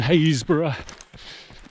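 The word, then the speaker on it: Happisburgh: And the other three, well, it's Tackleston, Windham and Haysborough.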